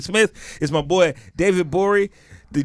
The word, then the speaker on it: Gborie: Smith, is my boy David Gborie. The G is silent. Hey. The G is super silent, man.